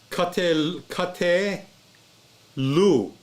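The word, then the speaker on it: קטלו: When you add a long U to kate lu, right? Because shewa is pronounced, because this is not a short vowel right here. So ka te lu.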